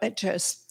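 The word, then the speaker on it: Liatris: I'm not sure how to pronounce it. Leatris? Leatris, yep. Leatris.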